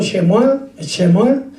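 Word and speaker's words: שְׁמוּאֵל: Y Samuel se pronuncia en hebreo Shemuel, y quiere decir Dios escucha.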